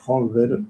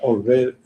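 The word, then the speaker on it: Holmberg: Creo que ahora decimos Holber, no sé si por buenas si bien pronunciado, yo creo que en la época se decía Olver.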